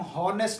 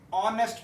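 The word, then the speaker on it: honest: देते हैं for example इसको हम हने नहीं पढ़ते ऑनेस्ट पढ़ते हैं इसको हनर नहीं पढ़ते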